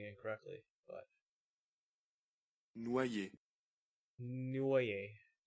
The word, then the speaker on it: Noye: Noyer. Noye. Noye. Noyer. Okay. Noye. You kind of treat... I'll just think of the O as a U. Noye.